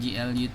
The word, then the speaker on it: GLUT: Kemudian GL utility ya, atau GLUT ya bacanya. Ini apa sih GLUT ini, atau GLUT?